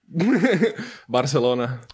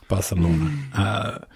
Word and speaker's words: Barcelona: Barcelona. Barcelona.